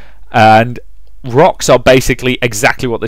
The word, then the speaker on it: Roks: And that is spelled ROKS, because as we've established, orcs can't spell worth a damn. And rocks are basically exactly what they sound like.